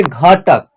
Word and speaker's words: घटक: सामड का उच्चारण होगा लास्ट वाला अक्षर क है और क का करेंगे उच्चारण तो उसमें अ की साउंड नहीं आएगा बल्कि क का उच्चारण आधा हो जाएगा यहां पे जैसे घटक ठीक है ना घटक घटक उच्चारण होगा तो घ के लिए